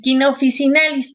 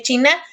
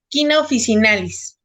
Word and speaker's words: China officinalis: No vayan a decir China, por favor, porque les voy a decir que China es un país en Asia, pero se escribe China. Y se pronuncia Quina officinalis.